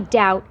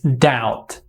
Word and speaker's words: doubt: So now I learned it's not doubt with B. It's doubt. Doubt without B.